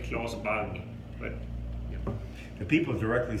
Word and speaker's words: Claes Bang: In Swedish you say Claes Bang, but yeah.